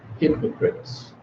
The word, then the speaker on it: hypocrites: We've got word stress in three-syllable words: disciples, accordance, opinion, inscription, attention, and one key exception: hypocrites.